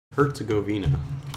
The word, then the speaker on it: Herzegovina: Herzegovina. Okay, I can get that. It's pronounced like Hertz with a T.